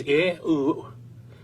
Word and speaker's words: YAHUAH: This would mean that these scribes would have pronounced God's sacred name as YAHUAH or YAHUAH, exactly as the Assyrian and Babylonian evidence demonstrate.